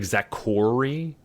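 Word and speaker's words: Zakory: It's like Z A K O R Y. It's like Zakori. I think that's how it's spelled.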